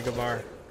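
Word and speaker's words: Gewehr: I'm buying the Gavar. It's called a Gewer when I was a kid. When I grew up, I realized that's not how you pronounce that.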